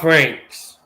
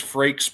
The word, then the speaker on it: Frakes: I keep on calling Jonathan Franks. I know Yeah. that's not how you pronounce his name. I do too. I do too. But I know his name is Frakes, but I call him Franks.